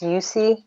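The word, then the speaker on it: Usui: short-lived in comparison to, I think it's pronounced Yusi Reiki, the traditional form of Reiki healing.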